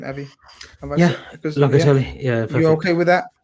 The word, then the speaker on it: Locatelli: Is that how you pronounce his name, Avi? Locatelli.